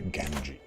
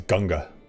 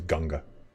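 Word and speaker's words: Ganges: lord of the genji which is not how you pronounce it it's ganga g-a-n-g-e-s indian pronunciation is ganga the lord of the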